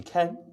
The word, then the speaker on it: Kheng: Yeah, so my name is Ken. Uh, it's a silent H in the last name if you must know.